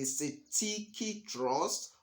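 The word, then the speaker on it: cestui que trust: black SL dictionary transcription it is you can pronounce it as Siti Siti Trust or s s trust so the beneficiary is also known as the CTI trust or the S trust there's another name for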